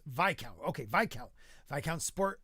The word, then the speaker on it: Viscount: Viscount is pronounced VCO.